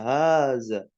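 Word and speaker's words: هٰذَا: Makanya haknya itu panjang dibacanya. Haza.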